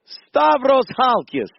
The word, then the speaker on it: Stavros Halkias: I always get the name wrong. Stavros Halkias. You nailed it. Stavros Halkias.